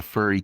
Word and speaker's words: Fjrn: question for you Fen um yes I everyone pronounces it Fern but but fur is good too um and that's the official